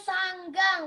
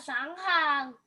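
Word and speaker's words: saṅghaṃ: Sebetulnya bacanya sanggang, bukan sanghang. Oke.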